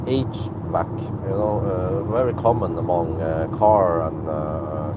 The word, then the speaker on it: HVAC: And many times when I talk about HVAC, I mean, that's how you pronounce it, HVAC, very common among car and service personnel, the HVAC.